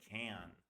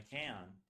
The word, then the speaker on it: can: See, this, it's usually, if I fully pronounce it like IPA tells me, should be can. And sometimes I could say that if I say, for example, I'll do it when I can.